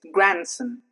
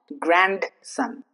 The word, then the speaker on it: grandson: It's grandson. It's not grandson.